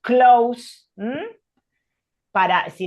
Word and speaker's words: closes: si, usualmente lo pronunciamos close, si le agregamos la S, ahí sí la E se pronuncia como una I, entonces close con S es closes.